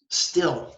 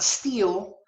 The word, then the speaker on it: still: will did not need still not steal steal is like to